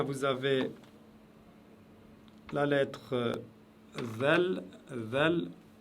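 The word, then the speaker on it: ذال: Zel, c'est un genre de D et Z mélangés qui se prononce avec la langue derrière les dents du haut de devant.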